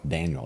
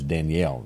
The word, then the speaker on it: Danielle: I said Daniel. It's Danielle.